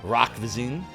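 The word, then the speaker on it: Roch Voisine: His name is Rock Vizine. Rock Vizine?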